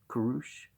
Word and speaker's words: Kurush: The early Persians wrote Kurush and not Cyrus as the name of their first emperor, and Rushanak, not Roxana, as the name of Alexander's bride.